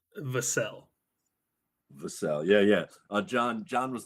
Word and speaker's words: Vassell: According to Wikipedia, it is pronounced Vassell.